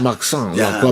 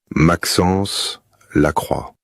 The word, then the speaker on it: Maxence Lacroix: his name is pronounced Maxence Lacroix. Maxence Lacroix. The last name ends with a wa sound, which is how the letters O and I are pronounced in French.